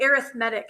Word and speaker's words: arithmetic: Um, but when we're talking about sequences, which we'll talk about in a second, then we say arithmetic. It's weird. An arithmetic sequence. So, it's weird that it's pronounced different.